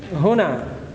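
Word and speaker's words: هُنا: Huna bidammil ha. Huna dengan cara bacanya di dhammah hanya huna.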